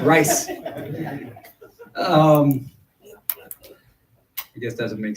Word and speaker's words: RISE H: And RISE stands for Resilience, Inclusion, and Supporting for Ending, and then you put homelessness, so it's RISE H. H is silent. The H is silent, RISE.